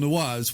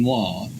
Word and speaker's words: noir: Has it also helped you from going from a person who used to say film noir to a person who now says film noir? Compares, like, it's a double syllable noir.